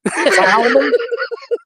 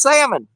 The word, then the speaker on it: salmon: wife calls it salmon Salon it drives me crazy she pronounces that L every time I said the L is silent she goes well they